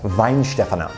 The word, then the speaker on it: Weihenstephan: once they graduate and I understand that it's pronounced Vine Stefan and I got that information from fely in Germany's YouTube video whether it's at the